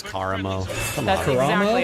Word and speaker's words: Karamo: It's Karamo. Come That's on. exactly. It's Karamo. Whatever. Absolutely, it is Karamo. Well, Anna, who do you think is the hottest? Kamara.